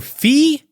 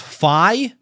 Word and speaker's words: Fi: I always called her Fee, but when I call her Fee, I get corrected by people saying it's pronounced Fi.